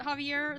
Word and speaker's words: Javier: Javier is the Spanish variant of Xavier. So it's possible that they can both be pronounced like that. Exactly! Imagine looking up sources instead of trusting me implicitly. It's shaking my head. I mean, I'm not sure why I'm arguing in my defense. I honestly don't know why I pronounced it Javier there. It's obviously not intended to be pronounced that way, but I think it's because